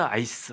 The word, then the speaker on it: ICE: 그런데 I라고 그 뭐라고 부르지 않고 발음하지 않고 그냥 IC가 뭡니까? 얼음이라는 뜻이잖아요. 아이스. 그냥 폴리스 아이스 아이스 폴리스 이렇게 발음을 한대요.